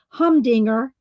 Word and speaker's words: humdinger: yours is quite a humdinger. It sounds best when you draw out the first syllable.